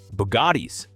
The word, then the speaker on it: Bugatti: Bugattis. Remember, that's become a running joke because people keep calling me out for mispronouncing it.